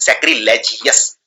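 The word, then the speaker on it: sacrilegious: भी आता है ओवस, तो इसको जियोवस की तरह प्रोनाउंस कीजिए सैक्रिलेजियस।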